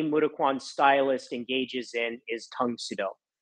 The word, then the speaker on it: Tang Soo Do: The first type of training that any Mudaquan stylist engages in is Tang Sudo, which is the Korean pronunciation of Karate Do.